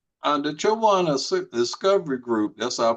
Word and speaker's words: Chowan: Uh the Chawan Discovery Group, that's our pronunciation, Chawan.